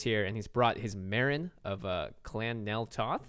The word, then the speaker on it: Meren: Alex Kessler is here and he's brought his Marin of uh Clan Nel Toth did I say that correctly yeah no you have to say it like this Marin of Clan nto to to okay with that